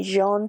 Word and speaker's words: Jean: we have jean or i kept saying gene it's spelled g-e-a-n but i think it's meant to be jean we have bug we